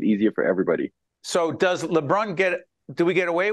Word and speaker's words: Lebrun: Okay, so technically it's Lebrun, which is the actual French pronunciation, but I've anglicized it just to make it easier for everybody. So does Lebrun get, do we get away with that?